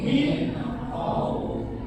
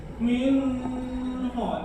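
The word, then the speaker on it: مِنْ خَوْفٍ: Wa amanahum min khauf. Min khauf. Jadi jelas. Tidak boleh min ho, tidak boleh, atau mi ho, nggak boleh.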